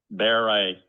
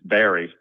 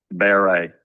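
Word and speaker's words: Barré: It's B A R R E Baret. It looks like it's Barry, but it's got a accent on the E. So, it's kind of unique, right? Baret is how you pronounce it.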